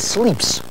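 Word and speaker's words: slips: The word for tie is sleeps. Sleeps is the way it's pronounced.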